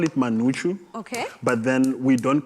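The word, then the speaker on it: umngqusho: So how do you pronounce that? Manuchu. Manuchu.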